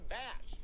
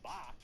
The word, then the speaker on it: Bach: first kill count that it's pronounced King Batch, even though, I mean, look at that spelling. You can't get mad at me for reading it as King Bach.